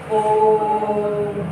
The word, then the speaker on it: ओम: तो यहाँ पे क्या है, देर तक उच्चारण करते हैं। ठीक है, बहुत ज्यादा टाइम लगता है, जैसे कहते हैं ओम, ठीक है, इस तरीके से करेंगे ओम।